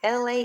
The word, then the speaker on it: Elay: Once again, my name is LA, pronounced like LA, like the city.